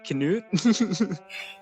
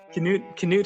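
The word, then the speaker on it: Knut: Oh, it's called Pan by um I think it's pronounced Canoot. Canute Hamson. I always thought it was nuts because it's kn but it might actually be Canute.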